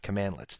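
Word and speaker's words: cmdlets: now Powershell commands are built using commandlets so that's how you pronounce that commandlets and you'll see that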